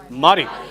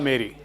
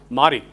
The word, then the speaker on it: Mari: But pronounce it next time as Mari. But there's a college in Hyderabad. Villa Mari. 95% of the people pronounce it as Villa Mary.